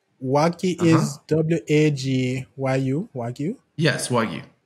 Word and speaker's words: Wagyu: Yes, Wagyu. W-A-G-Y-U. So it's pronounced Wagyu?